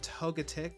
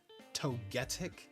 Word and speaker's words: Togetic: And then Togepi and Togetic, or for some reason as I've heard some people pronounce it, Togetic.